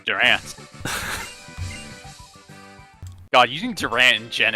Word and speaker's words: Durant: yes Max moves can't miss I see it's pronounced Durant God using Durant in gen eight with such